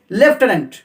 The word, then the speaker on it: lieutenant: লেফটেন্যান্ট স্পেলিংটা আছে LIUTENANT, উচ্চারণ হচ্ছে লেফটেন্যান্ট, একটা ফয়ের উচ্চারণ আসছে লেফটেন্যান্ট।